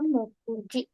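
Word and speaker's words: 目次: Ini dibacanya Mokuji.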